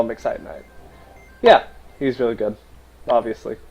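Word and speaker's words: Exciton Knight: yeah sorry evil swarm exaton night or exciton night both pronunciations are correct but i call him excite night yeah he's really good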